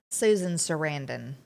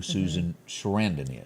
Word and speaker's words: Susan Sarandon: Susan Sarandon.